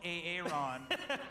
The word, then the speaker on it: Aaron: And he prefers to be called Aaron. And everyone's been pronouncing it wrong all these years.